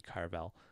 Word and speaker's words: Cavill: Henry Cavill, that's the right way to say it, says the extended cut of The Lord of the Rings is his favorite comfort film.